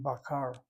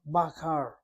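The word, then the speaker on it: בָּקָר: This is an a-a, baqar.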